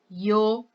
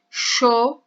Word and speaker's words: yo: Então, eu posso falar yo. Você pode falar também sho, com esse Y, como se tivesse um som do nosso X, né? Do nosso CH.